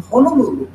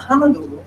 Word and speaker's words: Honolulu: Yeah, we live in Honolulu, not Honolulu. Okay.